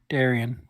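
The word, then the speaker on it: Daryan: a fruit Dar Darion Darion is that is that how I'm supposed to pronounce that oh you pronounced it right I just make you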